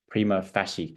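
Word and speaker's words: prima facie: prosecution's evidence and decide whether it is a prima fasy case I believe that's how you pronounced it um meaning that it is a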